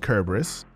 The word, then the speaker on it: Cerberus: chain launch in 2022 the cerberus airdrop pronounced kerberos will be dropped to those